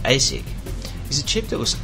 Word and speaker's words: ASIC: The ASIC chip, pronounced ASIC, is a chip that was often used by hardware vendors at the time for a particular application or shortcut.